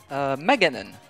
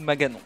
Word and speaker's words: Maganon: Et Maganon. Ou Maganon. Je sais pas comment vous le prononcez vous, mais moi généralement c'est Maganon.